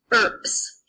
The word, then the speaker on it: urbs: So, for example, the word for city, URBS, sounds like ERPS because the B and the S are together.